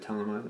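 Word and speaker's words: Thelema: I believe it said Telema. I said Thelma before, but I think it's supposed to be said Telema. One of my viewers sent me the pronunciation.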